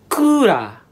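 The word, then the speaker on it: クーラー: And it's pronounced as kura.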